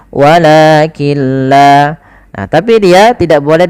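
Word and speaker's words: ولكن لا: Apabila ada nun sukun bertemu dengan lam, maka cara membacanya kita idghamkan nunnya kepada huruf lam, sehingga di situ tidak dikasih harokat, artinya nunnya tidak dibaca, langsung ke lam yang berharokat tasydid, walakilla.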